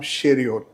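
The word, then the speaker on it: Cheiro: Aarish pronunciation में उसका surname उसका नाम शेरियो ऐसा उसको सी एच ई आई आर ओ ऐसा स्पेलिंग है। हम लेकिन उनका प्रोनाउंसिएशन वो शेरियो करते हैं। हम लोग यहां केरो करते हैं।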